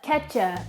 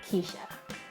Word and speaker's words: Kecha: Instead of Keisha, my name is Kecha, which is unique, as am I, but I always get mispronunciations like Keisha, Ketcha, Kacha, Ketchup, Kesha, everything but Keisha. So, if you ever meet me or you see my name written down, it is pronounced Keisha.